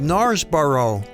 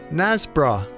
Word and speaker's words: Knaresborough: It's quite simple, but from the spelling it might look to some people that it's called Knares borough, but the locals just say “Nazzbrah”.